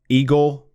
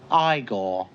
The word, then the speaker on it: Igor: the bride The Misfits eagle now it's pronounced Igor they told me it was Eagle well they were wrong then weren't they and of course the